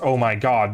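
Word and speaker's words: ZOMG: now annoying to me the Z doesn't actually mean anything so Z OMG is still pronounced oh my God because the Z literally doesn't mean anything can you the E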